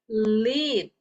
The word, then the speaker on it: lead: So the pronunciation is different, guys. Okay. This is led and then lead.